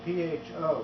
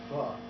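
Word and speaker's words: phở: It's spelled P-H-O, but it's pronounced Alison's brothers are sure it's pronounced pho, not pho.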